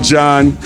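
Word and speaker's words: Jean: Gene, shouting you out, John. Let me see, yeah, you pronounce it John, but it looks like Gene.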